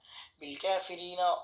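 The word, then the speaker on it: بالكافرين: হবে নুন জবর না বিল কাফি রিনা নুন ওয়াকফের সময় নুন সাকিন করতে হবে এবং এই র তে তিন লিফ লম্বা করতে হবে এখানে যে মদ হয়েছে মদের নাম তিন আলিফ মতে আরজি উচ্চারণ হবে বিল কাফিরিন اللہ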